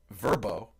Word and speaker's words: VRBO: for doesn't bother me uh vrbo uh it's verbo is how it's pronounced it's an american vacation rental online marketplace